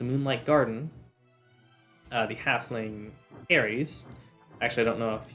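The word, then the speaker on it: Heres: is Harry's um spell it's not like h-a-r-r-y-s but h-e-r-e-s like hermese but without the m um y'all got to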